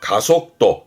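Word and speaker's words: 加速度: 발음은 속도, 속도. 앞에 붙여서 가속도, 가속도, 가속도.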